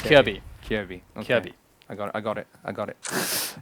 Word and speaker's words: Kjaerbye: Kjaerbye.